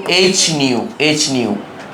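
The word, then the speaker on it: ν: মানে কি বল কম্পাঙ্ক নিউ মানে কম্পাঙ্ক এটার উচ্চারণ নিউ এই যে নিউ এটার উচ্চারণ হচ্ছে নিউ ড্যান্স করাবি ভি না ড্যান্স করাবি ভি টা একটু ড্যান্স করবে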